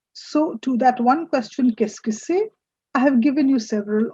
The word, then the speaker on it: qu'est-ce que c'est: The pronunciation is comparatively simpler. It's qu'est-ce que c'est? Qu'est-ce que c'est?